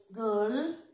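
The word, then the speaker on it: girl: যেমন give, গার্ল, gate, তিনটে word আমি এখানে লিখছি, গিভ গার্ল গেট, তো হিসাব মতন আই রয়েছে আর ই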